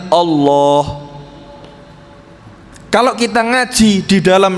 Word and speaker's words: Allah: Perhatikan Bapak Ibu ini ada tasdidnya. Ada tasdid ada alif kecil yang panjangnya dua fathah. Eh, dua dua harakat. Dua harakat. Dua fathah itu bacanya Allah.